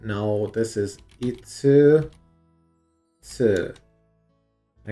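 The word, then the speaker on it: 円: And it's pronounced N. I don't know why we had to change that one. Why couldn't we have just said that the Japanese currency was N?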